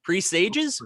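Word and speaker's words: presages: that it was p-r-e-s-a-g-e and in this movie pressages or pre-sales oh that's another one don't know how to pronounce it properly damn damn how do you pronounce it pre-sages foggy yeah but i haven't thought about the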